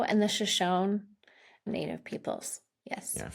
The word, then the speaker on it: Shoshone: And as you mind pronouncing them for me so I get the pronunciation correct? So, it's the Arapaho and the Shoshone Native peoples.